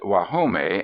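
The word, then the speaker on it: Guajome: old Spanish Rancho of wome they pronounce it wahome and it means the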